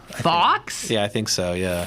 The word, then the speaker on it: Fawkes: But how do you pronounce that guy's name? Guy Fawkes. Fawkes?